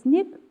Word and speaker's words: снег: В слове «снег» произносим звук «к».